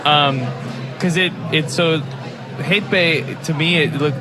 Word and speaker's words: Heyt be: turkish yeah because uh it's it's hate bay right yeah right pronunciation awesome yes and uh